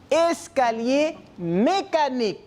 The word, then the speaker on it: escalier mécanique: Comment ça se prononce? Escalier mécanique.